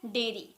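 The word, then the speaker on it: dairy: डायरी अब same देखिए ये एक होता है लेकिन इसे बोला जाता है डेरी ठीक है लेकिन स्पेलिंग बिल्कुल सेम है ना कोई भी कंफ्यूज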